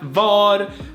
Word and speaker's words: var: For instance, we have var, or which is mostly spoken va and va, and we have vad